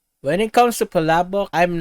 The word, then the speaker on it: Palabok: Yeah, it's actually pronounced Palabok Fiesta here in our country, but I feel like this looks delicious.